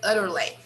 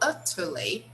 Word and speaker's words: utterly: that were to say utterly of course if you are in england right not in america you will say how utterly ridiculous okay because in england they really pronounce the t like t okay so they will